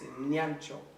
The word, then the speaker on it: Nyancho: And if I was to say, because in how it's supposed to be is Nyancho. Nyancho.